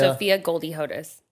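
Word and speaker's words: Sophia Goldie Hodes: said that you really safotas is how you pronounce yeah everyone what is your full name sophia sophia goldie hodus sophia goldie hoda is that from goldie hawn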